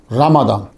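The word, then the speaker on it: رمضان: समझ आ रही है आपको रमादान हम नॉर्मली रमजान बोल देते हैं चलता है उर्फ में जो है लेकिन आप लोग जो है वो जरा भी ये भी ज़हन में रखा रखें असल प्रोनाउंसिएशन क्या है? रमादान कमरी साल के नवे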